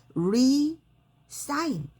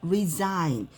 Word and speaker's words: resign: 그래서 resign. 그래서 이제 제가 쉽게 외우는 방법은 우리 sign도 알죠? 거기에다가 re를 붙여서 resign인데 요 발음을 z 발음으로 하시면 돼요. s가. 그래서 resign.